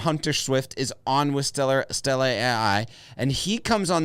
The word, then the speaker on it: Stella: I was going to say, what starts with the letter S and rhymes with Tella?